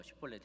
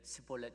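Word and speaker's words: שיבולת: 사람들을 보고 잡고서서 너 쉿볼렛 해봐 그러는데, 그때 SH 발음은 쉿볼렛 그래야 되는데 스볼렛 이렇게 S 발음으로 이 사람들은 그 발음이 SH 발음이 잘 안 됐던 모양이에요.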